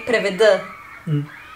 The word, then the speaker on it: преведа: we write преведа, but we say преведа.